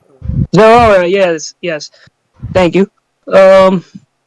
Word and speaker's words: Zeraora: So, but however, it's exclusive to I forgot how to pronounce his name. The Zerora. Zeraora.